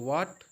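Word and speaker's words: what: यहां पर भी देखें डब्लू हा ए टी हा जो होता है वह साइलेंट होता है तो व्हाट अब जो है तुरंत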